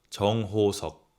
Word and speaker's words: 정호석: You could be pronouncing it right, but this is the real pronunciation. RM, 김남준. 김남준. Jin, 김석진. 김석진. Suga, 민윤기. 민윤기. J-Hope, 정호석.